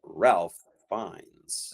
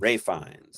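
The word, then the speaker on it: Ralph Fiennes: And it is the one and only Ralph Fines. I think it's Ray Fines. Ray Fines is how he pronounces it.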